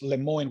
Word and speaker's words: Lemoine: And actually, to your point, that concern, because I wanted to be fair, I mentioned Blake Lemoine earlier, or I guess Lemoine would be the English pronunciation.